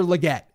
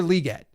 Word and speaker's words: Legette: I've learned that it's not Xavier Legette, it's Xavier Legette.